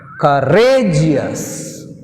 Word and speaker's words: courageous: Courageous, courageous. Here rageous, gs1, re 2. So that's why we take stress on the second syllable.